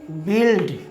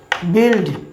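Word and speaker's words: build: দেখুন আরেকটি উদাহরণ বি ইউ আই এল ডি উচ্চারণ কি হচ্ছে বিল্ড বিল্ড বিল্ড মানে হচ্ছে নির্মাণ করা মানে ভিউয়ার্স নির্মাণ করা।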